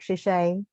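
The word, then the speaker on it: 谢谢: Well, you could say it in Mandarin. It's like shishay.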